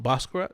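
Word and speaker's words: Basquiat: Um, Boscar, that's how you pronounce it. Bosat.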